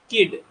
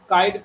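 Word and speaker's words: Kyd: Hamlet वास influence bye किड इन्हीं को लोग काइट प्रोनाउंस करते हैं तो जो अच्छा लगे बोलो टॉमस किड या थॉमस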